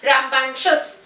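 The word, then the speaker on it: rambunctious: देखो फ्रेंड्स, यहाँ मैंने वर्ड्स लिखे हैं रैम्बैंक्शस, ठीक है, वर्ड का प्रोनाउंसिएशन है जो है वो है रैम्बैंक्शस।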